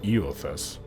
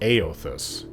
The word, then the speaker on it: Eothas: god is pronounced ao it's spelled e-o-t-h-a-s so you would think e-others but it's pronounced aeothus in the game and